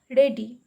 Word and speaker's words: ready: Now the next word is ready. R-E-A-D. E is silent, one syllable.